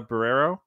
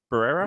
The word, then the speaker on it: Barrera: get her name wrong Melissa barrero Barrera yeah yeah Barrera yeah you got it yeah Melissa Barrera they